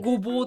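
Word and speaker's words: 牛蒡: これでごぼうって読む。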